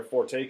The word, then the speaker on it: forte: strength which is where Forte comes from as in suck and dick is my forte okay sucking dick is my strength but I'm pretty sure it's Forte because it's Italian in any case P